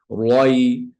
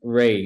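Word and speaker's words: ر: that heaviness Roy yeah you don't wanna you don't want to say like the English word Rey if you say Rey like in English Okay that's how you spell it that's correct but this is a heavy raw so it has to be right right there you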